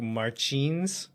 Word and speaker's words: Martins: and I think the bra like the Portuguese pronunciation is more like phelipi and then the last name is like Marin uh I'm going to struggle with that one